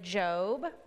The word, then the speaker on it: Job: it looks like it's spelled job but we pronounce it job it's a book that brings with it it